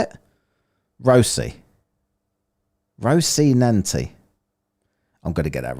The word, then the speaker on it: Rocinante: Rocinante. Is that how I say it? Rocinante.